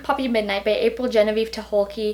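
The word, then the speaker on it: Tucholke: midnight by April Genevie to hulkki that's how the Audi book pronounces her last name so I'm just going to go with it this book was weird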